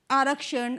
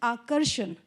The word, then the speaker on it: Akarshan: Many people pronounced it wrong. They said Arakshan. I said, no, it is Akarshan.